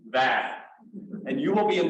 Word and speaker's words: Vaid: So just please all know, when you say her name, it's like plaid. It's Urvashi Vaid.